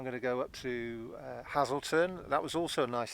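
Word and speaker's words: Hazleton: out to me is my pronunciation of Hazelton it is hlon which is very close to how the Saxons spoke um hazle um which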